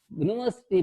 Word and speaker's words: university: to university the first letter is U but the sound that University begins with is Vogelsong okay that is the dis consonant sounds like and a university University here also e just like European University also begins with consonant sound therefore a university do